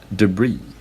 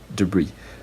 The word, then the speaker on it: debris: this word is pronounced debris debris and in received pronunciation it is or in British English it is pronounced debris debris so in general American the last syllable is stressed the first syllable or